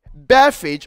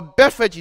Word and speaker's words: Bethphage: Now, when he reached here, Bethphage or Bethphage, depending upon which pronunciation you want, what he did was he told his disciples to do something.